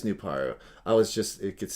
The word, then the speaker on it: Nuparu: canonically speaking canonically speaking his name is pronounced new power yeah nupar nuparu no it is nuparu i was just it